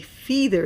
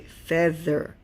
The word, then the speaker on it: feather: So they make an eh sound, a short E sound. So the EA, you don't say feather, you say feather.